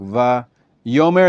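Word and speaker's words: ויאמר: Va-yomer is an exception.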